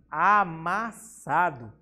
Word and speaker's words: amassado: Depois temos a palavra amassado. Vemos que o sa a gente pronuncia com maior intensidade.